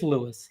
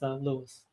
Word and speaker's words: Louis: Um, yeah, like he he pronounces it as Lewis. He's he's wrong, but he always pronounces his own name as Lewis.